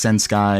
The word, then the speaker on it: censkai: It's pronounced Sen Sky.